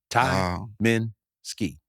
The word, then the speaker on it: Tyminski: to spell it here's the easiest way to spell it Ty Mi I N Ski Tai Min ski and it's it's really